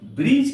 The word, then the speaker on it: bridge: यहां पर जी के पहले डी का प्रयोग हुआ है, ये डी का उच्चारण नहीं किया गया है। BRIDGE, ब्रिज का अर्थ होता है पुल।